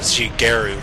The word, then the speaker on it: Shigeru: Shigeru with a hard G in his name.